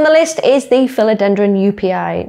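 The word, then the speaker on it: Joepii: Next on the list is the philodendron UPI. Now I know it's spelled a little bit funny, but I'm pretty sure this is how you actually pronounce the name. So it's pronounced UPI.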